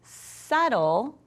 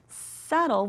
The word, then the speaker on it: subtle: And the B is actually silent because when we look here and the word is subtle, subtle, we don't hear that B.